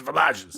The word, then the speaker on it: Villages: boet and boet Villages it looks like Villages well it it is Villages but in French it's vages wow okay so anyway